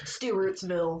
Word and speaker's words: Stewartsville: Everybody makes fun of me because I say Sturtsville, but I feel like that's how people from Sturtsville. Because you're not pronouncing the W. Stewartsville. Yeah. That sounds goofy. It does sound goofy, but I think that's how it is. Stewartsville. I'd say Stewartsville. But if you say it fast enough, Stewartsville.